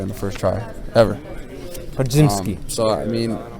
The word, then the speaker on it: Podziemski: How do you pronounce it? Podziemski.